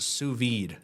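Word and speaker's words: sous vide: They just know it's pronounced suvid.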